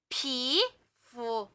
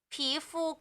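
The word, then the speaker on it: 皮肤: เนี่ย ฮะ ต่อ มา ผี full ไม่ ใช่ ไม่ ใช่ ผี เลย นะ อ่าน ว่า ผี ใช่ ค่ะ อ่าน ว่า ผี ผี กู ผี ฟู ผิว หรือ ผิว หนัง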